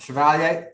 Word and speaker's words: Chevalier: Yep, Chevalier.